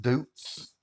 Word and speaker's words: Deutz: This tractor, the Deutz, I call it, I've heard it pronounced Doots.